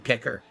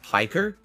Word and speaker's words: Piker: Anyway, let's get into this June the King documentary on Hassan Pekker. I've always been interested in how you become a commie jock. He's a lol cow in his own right. It's pronounced Piker?